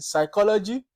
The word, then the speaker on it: psychology: evening then you have letter P silent in Psychology in s in pneumonia this class we've looked